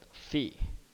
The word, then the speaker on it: phi: a greek letter so this is called fee okay or similar to the pronunciation of physics of phi okay but the spelling is phi okay and theta are